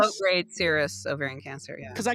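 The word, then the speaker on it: serous: Low grade syrup. lowgrade cirrus ovarian cancer. Yeah, cuz I keep wanting to say serious, which it is serious, but it's low gradede cirrus ovarian cancer.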